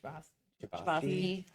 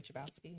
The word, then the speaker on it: Chbosky: Chbosky. I always say Chbosky.